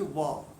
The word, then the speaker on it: ওয়া: তারপরে হচ্ছে ওয়া, ব নয়, আবার ভও নয়, মধ্যবর্তী একটা অংশ ওয়া।